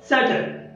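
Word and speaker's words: subtle: शब्द बघा doubt, doubt, doubtful, doubtful, सटल, सटल, सटलटी, सटलटी, date, date, debtor, debtor, डेटरशिप, डेटरशिप.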